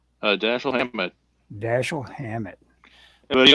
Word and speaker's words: Dashiell: Dashiell was an Americanized spelling of an old family name and was pronounced Dashiell.